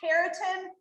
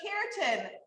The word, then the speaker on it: keratin: you guys all say keratin it kind of sounds like the word carrot and we actually have